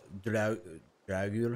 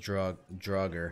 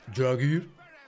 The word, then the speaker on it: Draugr: Pronounced Draugr. You gotta add the Draugr. Like you're half drunk.